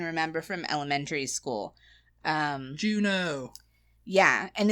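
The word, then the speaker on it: Juneau: be the oh yeah Anchorage okay I put Juno I didn't even think of that one and that is one not that she said funny but that's one I can remember from elementary school um Juno yeah and it's not spelled like the movie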